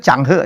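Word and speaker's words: Zheng He: Ternyata bacanya itu Changhe ya, bukan Cheng Ho ya.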